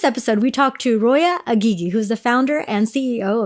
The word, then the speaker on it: Aghighi: It's Aghighi. You actually nailed it. But you have like the way to say it. Yes. So I'm originally from Iran. So the correct pronunciation is Aghighi.